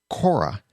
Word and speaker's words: Quora: social question and answer site Cora now that's spelled q u o r a there's a podcasting group